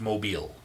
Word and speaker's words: Mobile: It's spelled Mobile, but it's pronounced Mobile.